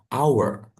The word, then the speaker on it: hour: Jam itu kan hour tulisannya hour walaupun depannya h kita fokusnya ke cara bacanya. Bacanya adalah our jadi harus dengan our itu kan depannya a berarti harus pakai an hour.